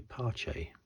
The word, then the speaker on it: Carlos Pace: Prix win again maybe another single winner Carlos Pace I don't think he ever won or parche